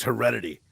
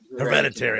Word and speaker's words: Hereditary: It was the best twist since Heredity. Wow, you know what I mean? That moment, in my opinion, if I'm saying that movie right. Hereditary. I knew I was saying it wrong.